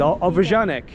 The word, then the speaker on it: obwarzanek: It's obwarzanek.